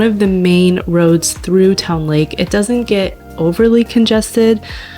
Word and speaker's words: Towne Lake: it's kind of funny she always pronounces the e at the end Towny Lake anyways we started our